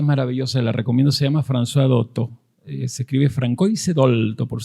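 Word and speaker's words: Françoise Dolto: francesa que es maravillosa la recomiendo se llama franois doto se escribe francois dolto por si quieren buscarla después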